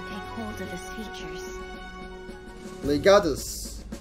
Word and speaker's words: Legatus: Legatus. That's how you pronounce it. I've been pronouncing it wrong the entire playthrough.